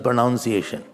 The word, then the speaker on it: pronunciation: Don't say pronunciation. It is pronunciation. Well, I am now learning pronunciation.